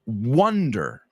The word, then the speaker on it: wonder: So your mind starts to wonder. I wonder what would happen if I were on the beach right now. Wonder. ¿Sabéis pronunciar 1, 2, 3, no? Wonder. Wonder. Like Stevie Wonder.